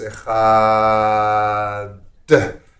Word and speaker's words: echad: tradition, as I do, of extending that echad, so it's echad, and really pronouncing that dalid.